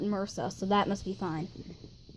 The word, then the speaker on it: MRSA: And even though it's spelled MRSA, believe me, the actual doctors call it MRSA, so that must be fine.